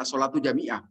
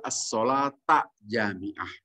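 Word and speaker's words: الصلاة جامعة: Jangan as-sholatu jami'ah. Itu beda makna kalau as-sholat jami'ah. Yang benar itu as-sholata jami'ah.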